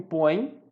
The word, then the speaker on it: põe: Reparem que o põe, este som, põe, termina da mesma maneira que o pegaram. O M e o põe, a pronúncia é pelo nariz, é um ditongo nasal, por conta disso vai seguir a mesma regra do pegaram.